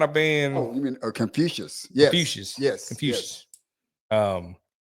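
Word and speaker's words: Confucius: And I'm going make sure I pronounce the guy's name right. Confuous. I think I said it right. But but yeah, man. So, I just kind of been Oh, you mean Confucious?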